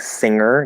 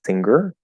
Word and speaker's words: singer: was, that channel, was if the ng is in the middle, you're supposed to say the g. I might not necessarily pronounce a word in the middle just because it's in the middle of a word as a g. Like singer definitely sounds better to me than singer.